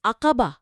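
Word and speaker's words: عقبة: এই আকাবা শব্দটির উচ্চারণটা বেশ ভারী।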